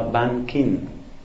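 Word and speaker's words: 萬金: Esa imagen la llevaron a una ciudad que se llama Banqing, por lo menos así la pronuncian en taiwanés. En chino eso como que se pronuncia Wanjin o una cosa parecida.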